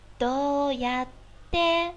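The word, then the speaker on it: どうやって: どうやって，我唱的貌似是个 de 的发音，对吧？而不是 te，对不对？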